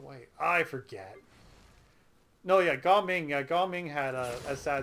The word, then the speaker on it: Gaming: This has been the joke of the internet because you're supposed to pronounce it Gao Ming, but people keep saying gaming because it looks like gaming.